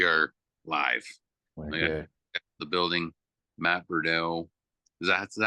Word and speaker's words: Beaudreau: So, so I grew up I grew up in California. and we say we said.